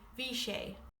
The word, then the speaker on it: bhí sé: For yesterday for it was you would say vich.